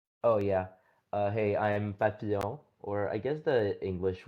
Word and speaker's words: Papillon: Uh hey, I'm Papilion or I guess the English way of pronouncing it would be like Pappion.